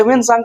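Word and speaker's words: Hiuen Tsang: सांग हर्षवर्धन के समय में आए तो पहले वेन सांग का मैं स्पेलिंग लिखवा देता हूं क्योंकि कहीं कहीं आपको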